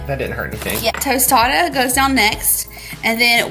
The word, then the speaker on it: tostada: Then we'll add our tostita, is that how you say it? Tostita? I don't even know what it's called now. Tostada.